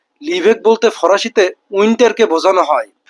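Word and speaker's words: l'hiver: লিভেক। লিভেক বলতে ফরাসিতে উইন্টারকে বোঝানো হয়।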